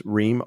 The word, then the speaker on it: Rheam: spelled and then my last name is Rheem r h e a m then everything is found